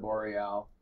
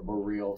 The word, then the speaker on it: boreal: You might not have heard of boreal or boreal. Some people pronounce it differently.